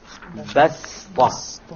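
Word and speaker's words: بسطة: Okay, so you don't pronounce it as a sad, you pronounce it as a sin, even though it is written as a sad.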